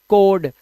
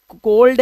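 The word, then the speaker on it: cold: और आप इसे पढ़ेंगे कोड कोड नहीं यह कोल्ड है इसमें एल का उच्चारण है बट in case of कुड वुड एंड शुड L will be silent in the word.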